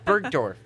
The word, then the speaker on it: Bergdorf: Goodman I think I'm saying that I've never Bergdorf Bergdorf that's how you say it unveiled their